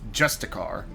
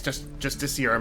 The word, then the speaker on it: justiciar: I played some other games where they pronounce this word as justicar, which, yeah, I guess justiciar makes more sense now that I look at it. I'm assuming that's the real pronunciation.